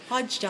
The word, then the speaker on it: Wadjda: How do you pronounce? Wadjda.